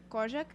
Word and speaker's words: Kozak: And Kozak, did I say it right? Say it again. Kozak?